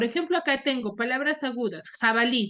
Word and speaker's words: jabalí: Acá tengo palabras agudas jabalí Dónde tiene la mayor fuerza de voz en la última sílaba en la última sílaba